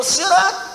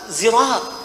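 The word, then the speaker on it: صراط: di pertemuan yang lalu Karena tidak semua suku dalam Arab itu bisa mengucapkan huruf yang sama di Arab ada suku-suku juga jadi ketika suku a bisa membaca pakai Sin misalnya Sin Quraisy membacanya dengan Shad Shad ya ketika orang mengatakan ihdinasirat maka Quraisy mengatakan ihdinasirat SH pakai Shad ada yang enggak bisa Shad enggak bisa Sin bisanya Zai jadi begitu Sirat zirat Sirat zirat Jadi kalau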